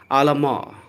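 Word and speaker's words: à la mort: The next is आलामार। आलामार। आर का sound र आपको बोलना है, टी का साउंड यहाँ नहीं बोलना है। लेटर टी का साउंड नहीं प्रोनाउंस करना है।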